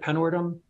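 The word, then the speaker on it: Penwortham: in a town called panorth ham I think is how you say it penworthum uh and it's it's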